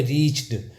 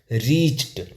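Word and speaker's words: reached: सी एच ई डी तो बहुत सारे लोग इसमें ड बोलते हैं तो अगर ड के साथ बोलोगे रिच्ड तो ड का उच्चारण बड़ा अजीब सा लग रहा है तो इसको ऐसे नहीं पढ़ा जाए इसको पढ़ा जाएगा रिच्ड ट का प्रोनंसिएशन आएगा रिच्ड फिर क्या है श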